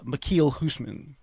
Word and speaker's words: Michiel Huisman: Uh So his I always remember how to pronounce his name. It's it's Michiel Huisman is is the way you pronounce his name.